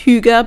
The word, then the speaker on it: hygge: you know the hygge it doesn't look like it's pronounced hygge but it is it's like swedish thing